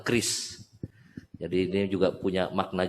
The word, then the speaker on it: QRIS: Singkatannya QRIS, kami membacanya adalah KRIS.